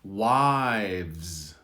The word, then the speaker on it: wives: Wives. So this is difficult because you have the VZ sound. Listen, wives. So the V is softer because the Z predominates at the end.